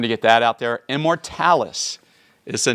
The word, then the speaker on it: Immortalis: then with much consideration I decided to change the pronunciation to the modern English pronunciation of Immortalis so I just wanted to get that out there Immortalis is the name of